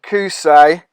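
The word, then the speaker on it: Qusay: person now celebrating had two sons uday and kusey that's how you say it now this is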